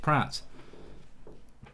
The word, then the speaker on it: Praet: No, it wasn't Perez, it was Pratt, who is Praet, but you do pronounce it Pratt.